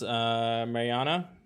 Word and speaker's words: Marjana: Marjana, pronounce Mariana.